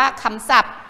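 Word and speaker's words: คำศัพท์: ภาษา อังกฤษ นะ คะ ใช้ พ. พาน เป็น ตัว สะกด นะ คะ ส่วน ศัพท์ เวลา เขียน อ่า เด็ก ๆ ไหม อ่ะ ศ. ศาลา ก็ จะ เปลี่ยน เป็น เสือ เพราะ มัน ออก สี สอน นี้ ก็ สำคัญ นะ คะ และ ขอ พาน ก็ เปลี่ยน ไป เป็น บอ ใบ ไม้ เป็น ทรัพย์ ทรัพย์ ๆ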